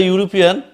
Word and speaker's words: European: Similarly, in the word European, and if you pronounce the European, automatically it's come to you U.